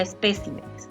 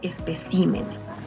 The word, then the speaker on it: especímenes: en forma plural, sería espécimenes, ¿no? Entonces ya no va a tener la sílaba tónica acá, sino va a cambiar, ¿ve? Está cambiando. Ya va a ser especímenes, ¿verdad?